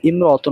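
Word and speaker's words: امْرَأَةٌ: শব্দ আসে তাহলে সেখানে ইমরতনের শুরুতে যে আলিফটি রয়েছে সেটি আপনার শুধুমাত্র লেখায় আসবে উচ্চারণে আসবে না আশা করি বিষয়টা স্পষ্ট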